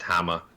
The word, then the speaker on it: Hammer: or is it thick and German it's just Hama all right time for Nate and Connor to